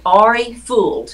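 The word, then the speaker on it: Ari Fuld: man of Zionist named Ari fooled his name is spelled AR I this was his first name ful D was his last name re fooled well he was a any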